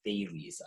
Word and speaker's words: Thales: I actually, before I started this slide, I thought to myself, I need to hear how this is properly pronounced. It's Thales, I looked it up.